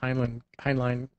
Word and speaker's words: Heinlein: His stuff later, though, Heinlein actually, that's pronounced, got very, very sick and twisted.